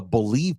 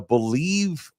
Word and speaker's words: Bleav: Today's major show announcement is that In the Building can now be heard on the Bleav Podcast Network.